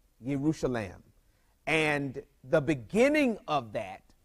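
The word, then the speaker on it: ירושלים: words that make one word in Hebrew it's pronounced uh yerusalem yerusalem and the beginning of that Yu ye r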